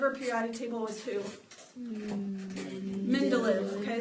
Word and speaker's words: Mendeleev: Mendeleev. Okay, so Mendeleev is how you pronounce that name. So Dmitry Mendeleev is who we have credited with our modern periodic table based on that.